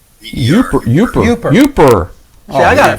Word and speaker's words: Yooper: Yeah, they pronounce it Yooper.